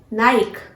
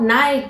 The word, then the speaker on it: Nike: So our next brand is, which is very well recognized brand, Nike. No friends, this is not Nike, this is Nike. The pronunciation of this brand is Nike.